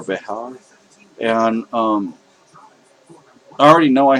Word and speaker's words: Bexar: Bexar is spelled Bexar. It's Bexar or Behar.